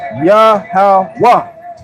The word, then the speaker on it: Yahweh: Yaha wah ha and being a actual proper noun or name it would be yahwa and we spelled it